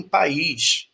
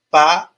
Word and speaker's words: país: Já em país, eu tenho aí, ó, P-A-I-S. Eu vou pronunciar esse I como uma vogal. País.